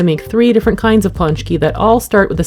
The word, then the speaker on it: Pączki: here's an easy way to remember how to pronounce it because eating these is your key to punch punch key and since it's an entire day devoted to